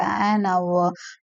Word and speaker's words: hour: Okay, என்ன அப்படின்னா an honest manன்னு சொல்லுவாங்க, an hour அப்படின்னு சொல்லுவாங்க.